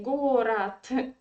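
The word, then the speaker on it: город: pronounce something absolutely different in russian language we write gorod and we say gorat yeah it's again because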